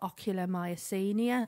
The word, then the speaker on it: ocular myasthenia: they were doing, they said, you've actually got ocular myasthenia.